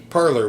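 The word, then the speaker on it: Parler: Parlor, which is not spelled the way you think it is. So So not It's spelled P A R L E R.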